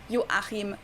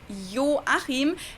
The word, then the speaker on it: Joachim: retired from the position joachim loof the letter j in german is actually pronounced like an english y so it's yo achim and then the last